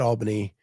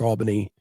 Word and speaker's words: Albany: from the States and still pronounce it Albany. Yeah, Albany. Yes. Uh, Southerners who know Albany, Georgia are familiar with a much different pronunciation.